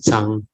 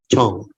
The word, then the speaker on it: Zhang: In Hokkien they call it. So when they ask you what your surname is, you say means Zhang in Mandarin. In Hakka it's Chong. So depending on which dialect, it's pronounced differently.